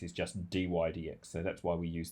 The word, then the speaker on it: dy/dx: as a fraction and we pronounce that dy DX you could say dy over DX but you don't need to quite often it's just do i DX and so in this